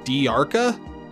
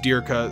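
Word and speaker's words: Dearka: says anything I know some of the dubs pronounced Dirka di ARCA and I haven't seen the sub but in the HD remaster he's pronounced Dirka so I'm sticking with that and then Nicole I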